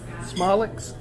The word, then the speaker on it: Somlik's: mathis texas i'm sorry how do you pronounce the name of this place smallx okay thanks sorry well that's squeaky noise it's